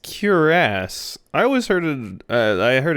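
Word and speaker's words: cuirass: it's actually it's pronounced curasse I always heard I heard it from multiple sources that it was pronounced like queerus but kiras it sounds like cure ass interesting interesting I always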